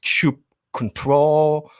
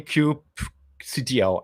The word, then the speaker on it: kubectl: let's start with the disclaimer how do we pronounce crew CTL is it Cube control doesn't really matter I tend to say Cube CTO I think okay anyway um that was just